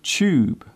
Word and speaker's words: tube: Do you notice how I pronounce the word tube? The first part of the word sounds like chair. It is common in British English to pronounce the TU sound as ch.